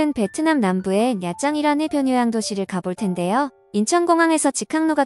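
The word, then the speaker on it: Nha Trang: 오늘은 베트남 남부에 야짱이라는 도시를 가볼 텐데요 인천공항에서 직항로가 개설돼 있어 직접 몇 장에 들어갈 수 있습니다 내장을 알파벳 그대로 읽어서 나트랑이라고 부르기도 하는데요 야짱이 정확한 발음입니다 당황의 실측만 사람들이 이곳으로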